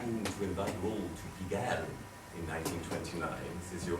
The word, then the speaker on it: Pigalle: But as we sing in a song, we pronounce each of the vowels. So we actually say Pigalle. Pigalle.